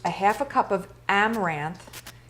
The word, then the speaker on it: amaranth: flour i used a half a cup of amaranth it's spelled a-m-a-r-a-n-t-h amaranth flour it's a whole grain